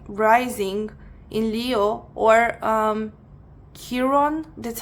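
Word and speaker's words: Chiron: Maybe you have sun, moon, rising in Leo or um, Kiron, that's how you say it.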